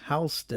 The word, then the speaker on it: HSTN: The rest of the collection, the limited edition Oakley Meta HSTN Pronounced Houston.